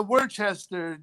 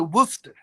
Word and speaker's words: Worcester: in new jersey commonwealth has is a worchester is way spelled they pronounce it worcester we'll go for rodney all right well it